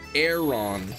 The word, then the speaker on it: Aron: It's pronounced aeron.